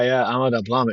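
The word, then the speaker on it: Ama Dablam: wonderful trip to the Matterhorn of the Himalayas, Ahmadabalam. Is that how you pronounce it? Tell us about that. Yeah, Ahmadabalam.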